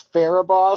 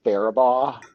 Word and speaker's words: Faribault: It's Faribault, sir. Oops. Sir, it's actually pronounced Faribault, like pheromones, but then with ball, but no L's at the end, just ball.